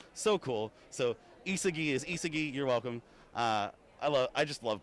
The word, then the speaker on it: Isagi: So Isagi is Isagi, you're welcome.